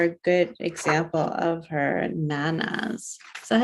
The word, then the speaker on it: Nanas: So I'm flipping through the book looking for a good example of her nanas. Is that how you pronounce it?